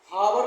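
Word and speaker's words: hour: N umbrella आवर एच ओ यू आर आवर नहीं पढ़ना है इसको आवर एच इसमें साइलेंट है।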